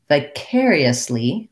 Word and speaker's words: vicariously: vicarius vicarius and then when we have vicariously vicariously it's a little tougher because i again have to do the ee the tense e's but in quick unstressed syllables so for that i might try doing the n sounds first yes lee yes lee curiously vicariously those are great suggestions thank